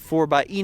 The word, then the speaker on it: 4xe: 4xe is a play on words of 4x4, and the E kind of looks like a plug, but it is pronounced 4xe.